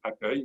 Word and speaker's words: accueil: I want to be accueil, which is it may not sound like the way it's spelled, but I promise you that's the way it sounds. And droid here should have droid with an E at the end.